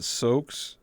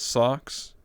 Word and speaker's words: Sokkz: You pronounce it Soaks, or Soaks, but I read it as Socks, which is correct.